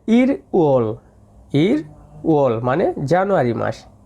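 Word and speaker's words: 일월: দেখেন এখানে উচ্চারণ করা হয়েছে ই রোল, এটা উচ্চারণ হবে ইর ওল মানে জানুয়ারি মাস, ই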